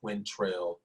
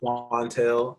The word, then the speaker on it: Quantel: If I had $1 for every time somebody called me Quintrell or Quintel, I wouldn't have to rap. It is definitely Quantel. It is spelled how it sounds, Quantel, and I'm Quantel on Facebook, Instagram, and Twitter.